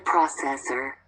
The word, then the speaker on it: processor: A data processor. A data. A data processor. A data processor. Processor. Acento en la O. En la primera O.